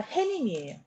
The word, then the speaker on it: 해님: 얘도 햇님이 아니라 해님이에요. 해님. 머리말 해님이라고 해야 맞는 거야.